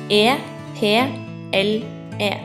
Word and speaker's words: eple: an apple is called eple in Norwegian it is spelled e p l e TR eple This is a Banana in Norway